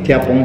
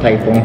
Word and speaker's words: Tiapong: So my name is Thiapong. It's not Thaipong. A lot of friends from North India calls me Thaipong, which is not a correct pronunciation.